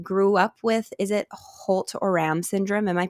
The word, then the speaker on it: Holt-Oram: advocate and you grew up with, is it Holt-Oram Syndrome? Am I pronouncing that Yes.